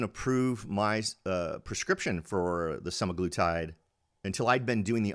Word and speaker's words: semaglutide: It's a supraglutide or something like that.